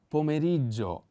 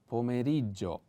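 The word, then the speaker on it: pomeriggio: in english three words the accent is pio o di pomerigo pomerito on the first e one more again snow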